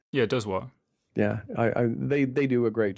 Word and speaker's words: Dozois: Yeah, Dozois.